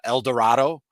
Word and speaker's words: El Dorado: uh thing against uh El Dorado which I have verified I that uh that is how it is pronounced um but since a